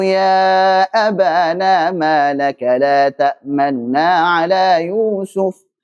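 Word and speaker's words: تَأْمَنَّا: Qalu ya abana ma laka la ta'manuna ala Yusuf. La ta'manuna ala Yusuf. Bukan manuna. Manuna salah, karena itu itmam.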